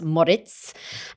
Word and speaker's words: Moric: So it looks like Moric, but actually it's pronounced Moritz.